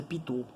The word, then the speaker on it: Pitot: É francês, o nome é P-I, é Pitot. Mas em francês é Pitot, a pronúncia.